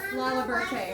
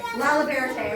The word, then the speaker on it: Lalaberte: Is it Labarte? Will you pronounce it for us? Lalaberte. Lalaberte, it was close.